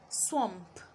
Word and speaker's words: swamp: Swamp, swamp. Squander, squander, squander. And the last one, swallow, swallow. Now there are several words spelled with the letter A making the sound O, but you will hold